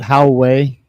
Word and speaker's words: Huawei: a brick was my Wowie. I left Your one what? A Wowie phone. The fuck's the Wowie phone? Had a speed check for it. Some people pronounce it Huawei. How it's spelt.